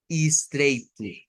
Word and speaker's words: estreito: Cuando una palabra comienza con ES, por lo menos para el portugués estilo de Brasil, el sonido puede ser, miren, con is o con es. Entonces, son dos pronunciaciones.